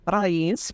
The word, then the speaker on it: Raiz: rented two years ago to rise Federal Credit Union also pronounce R for our Spanish speakers and in its base